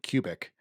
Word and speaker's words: Cubic: with names I mean even my last name cubic to me makes perfect sense it's it's literally cubic feet but instead of two